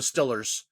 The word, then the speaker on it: Steelers: put distillers there the Stillers you have to pronounce it Stillers if you're really a Steelers fan that's first of all they're not Steelers they're still like I'll have yeah I